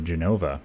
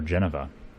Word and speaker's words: Genova: show you here in the Genova or Geneva I've heard it pronounced both ways so I'm not really